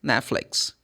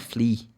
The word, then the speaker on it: Netflix: The sounds the sounds like flicks. Netflix not flea.